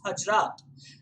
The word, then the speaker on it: Hazrat: It's Hazrat.